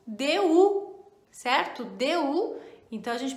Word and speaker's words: du: E temos um terceiro que é o DU, certo? DU. Então a gente pronuncia DU.